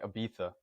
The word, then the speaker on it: Ibiza: A lot of their travel goes to Ibiza, Barcelona, and Prague, Prague, whatever. Or if you're from there, I think they don't pronounce the Z. It's like Ibiza.